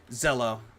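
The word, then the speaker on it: Zelle: shipping information yeah venmo Zell and cash app those are the ones I do zel zel thank you thank you I had I thought it was Zill for a second I I spell it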